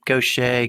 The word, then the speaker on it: Gauthier: Well, Mary Gauthier, it's great to have you on. Welcome to Biscuits and Jam. Great to be with you, Sid. Thank you. First of all, tell me where the name Gauthier comes from, and am I saying it correctly?